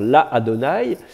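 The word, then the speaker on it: לַאדֹנָי: Mais le Aleph va devenir quiescent, ça va faire la Adonai. Avec voilà, une voyelle ouverte et un A un peu plus long.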